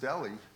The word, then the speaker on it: deli: Well, Polly, that H is silent. It is pronounced deli.